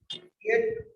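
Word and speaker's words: fiat: दो, फिएट money या फेट money, जो भी प्रोनाउंसिएशन रखो। ऐसे तो फेट इसका सही प्रोनाउंसिएशन है, लिखते हम फिएट है, ठीक है।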